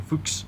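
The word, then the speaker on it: Fuchs: the former leester city left by CH Christian fuks yes well pronounced you could I was dying to say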